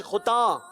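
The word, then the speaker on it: ختن: खुता नहीं, खुता, नून गुन्ना है, खुता।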